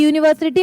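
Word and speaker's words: university: यूनिवर्सिटी में य से शुरू हुआ। यू से शुरू हुआ। लेकिन हम प्रोनाउंस करते हैं इसको वाई यू यू बोलते हैं उसको।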